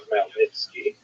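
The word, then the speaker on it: Chmielnicki: This is referring to Ukrainian leader and it's sometimes spelled with woman characters making it look something like it's actually pronounced malnitki with this was an extremely consequential uprising in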